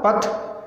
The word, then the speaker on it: पठ्: सो इसका प्रोनाउंस भी ऐसा होगा, पथ, लिख, हस, हलंत है उसमें स्टॉप करना है।